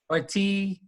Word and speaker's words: Ortity: Ortity. Ortity. All right. Sorry. Thanks for being flexible. I'm not the name guy. I'm really bad at that. But Kylie Ortity, and she works at Give Kids the World,